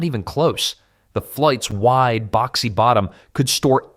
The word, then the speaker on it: fluyt: Enter the fluyt, pronounced flute, though it made about as much music as a drowning cat when pirates came calling.